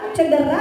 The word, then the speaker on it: cedera: huruf P yang kedua cedera apa cidera jarah j e atau i e i i e e Betulnya e cedera Ya Allah salah deter